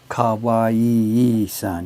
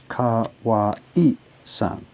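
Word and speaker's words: Kawase: in that work not car Yee San you've got too many syllables there it's Kahwa eat son three syllables car Wow II and it's no relation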